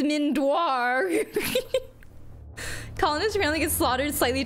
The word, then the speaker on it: Mindoir: your mind sweeper character isn't this Deep Mind sweeper door actually it's mindoir colonist fin get slaughtered